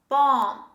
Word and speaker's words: bomb: cough the next word a type of oil bomb bomb say with me bomb don't say bottom